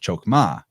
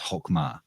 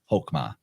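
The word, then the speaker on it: Chokmah: shows up in Kabbalah through the sphere of chokma or actually more appropriately pronounced hokma hokma and uh that's spelled hey kof mem hey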